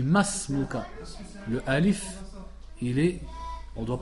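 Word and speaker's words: ما اسمك: Et de là tu entends souvent les gens qui font l'erreur et ils disent ma ismuka. On dit masmuka.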